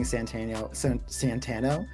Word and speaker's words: Santino: subscribe, it is seeing Santino open and learning how to say his name properly. Yeah, no, it's just like in The Godfather. It's Sonny. His real name his inside name was Santino, but everybody called him Sonny.